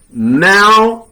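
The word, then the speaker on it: ναυαγέω: It's pronounced now-agio.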